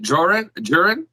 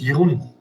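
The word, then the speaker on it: Jeroen: his name wrong but is it jorah jiren it's young it's a dutch name okay uh is playing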